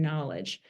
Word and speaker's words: knowledge: that knowledge, and also pointing out the irregularity of the word no and that the that the first syllable sound um changes from no to n as in in knowledge.